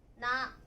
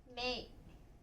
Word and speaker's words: 名: 読み方はなとかめいとかみょうと読みます。